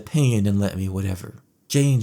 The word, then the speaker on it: Jeyne: Jane. Jane. It rhymes with pain.